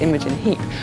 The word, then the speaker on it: Imogen Heap: Imogen Heap, which my name is pronounced Imogen Heap.